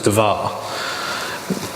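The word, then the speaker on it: דבר: we've talked about how Hebrew uses consonants only and then you saw of a pen of the vowels to it to make it a pronounceable word well Devere if you take away the vowels there's something DVR inning in English letters if you if you append a a to the division becomes devar which means just a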